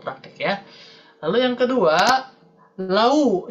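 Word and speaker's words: لَوْ: Lalu yang kedua, lau, jadi lao ya, lao kanu ya'lamun. Ini kesalahan pelafalan juga. Jadi hati-hati, untuk ya sukun dibaca i, goi. Sedangkan waw sukun dibaca u, lau ya. Tidak dibaca o ataupun tidak dibaca e untuk ya sukun ya. Baik, kita praktek dulu supaya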